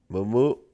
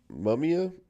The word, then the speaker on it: Mumia: Mumu Mumia, excuse me, I butchered that.